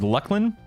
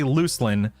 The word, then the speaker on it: Luclin: However, nowadays I say Luckland because I believe that is how they meant for it to be pronounced is Lucklin. But I did say I used Yeah, I used to say Luclin and now I say Lucklin, I believe.